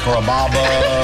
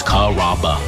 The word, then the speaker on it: Carrabba: People chop it up pretty good, you know, Carrabba, Carababa, Caramba. It's a really easy name to pronounce. It's Carrabba.